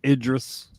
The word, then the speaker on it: Idris: And it's pronounced Idris.